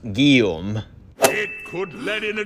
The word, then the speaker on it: Guillaume: Just a note, you pronounced the surname wrong. It's actually pronounced Guillaume.